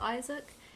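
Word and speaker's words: Isacc: It's pronounced Isaac. It is spelt I-S-A-C-C.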